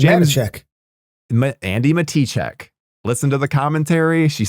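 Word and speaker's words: Matichak: We've been saying her name wrong all this time. It says Matichek. Andy Matichek.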